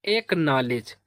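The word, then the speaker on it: acknowledge: से पढ़ेंगे ले और तो डी जी को पढ़ते हैं जा। क्या पढ़ते हैं? जा। तो इसका प्रोनंसिएशन हो जाएगा एकनॉलेज।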